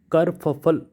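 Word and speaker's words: kerfuffle: कर फफल, this is कर, के ई आर, और फफल, एफ U double F एल ई।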